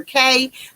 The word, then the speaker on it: Key: Now he calls her Kay, but it's spelled Key. So we're going to go ahead and call her what he called her, Kay.